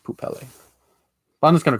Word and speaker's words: Poupelle: person thing named poopelle or poopel i think it's i think it's pronounced poop pele i'm just gonna call